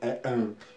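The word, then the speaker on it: Ham: Me desculpa, eu falei lã, mas é an.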